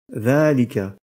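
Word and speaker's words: ذٰلِكَ: Du point de vue de l'écriture, le pronom démonstratif dhalika présente une particularité similaire à celle de hadha, dans le sens où la lettre alif, qui est prononcée à l'oral à la suite de la lettre dhal, n'est pas indiquée à l'écrit. Ce pronom démonstratif s'écrit donc dhalika, mais se prononce dhalika.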